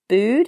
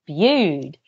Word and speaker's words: Bude: And then when I saw it, I thought nude rhymes with Bude.